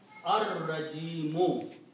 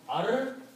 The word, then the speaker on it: Ar-Rajimu: When there is a Ra and a Lam together, a Lam is before the Ra, then the sound of Lam is killed. But Ra is pronounced twice.